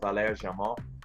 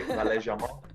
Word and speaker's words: Valère Germain: They've got a guy called Valère Germain. That's my best French pronunciation, by the way. Valère Germain.